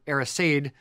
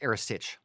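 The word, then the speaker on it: earasaid: Now, the Erisage, it's just for everyone out there, Erisage, E-A-R-A-S-A-I-D, in Gaelic is Erisage.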